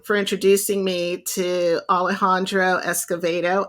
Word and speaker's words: Escovedo: introducing me to Alejandro Escovedo I had to actually go and listen to him say his name because again I was falling back on my Spanish and I want to call him Alejandro Escobedo but yeah yeah you